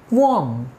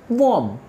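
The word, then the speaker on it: qualm: good then we have warm say with me warm so in this word that's L is silent you know what is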